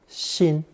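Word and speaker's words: 辛: This lesson is another installment introducing characters containing that ceremonial knife, pronounced xin.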